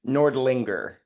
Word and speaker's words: Nordlinger: Am I even pronouncing that right? Nordlinger. Nordlinger.